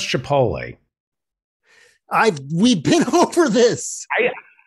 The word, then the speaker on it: chipotle: tea is not silent it's not silent chipotle and you keep saying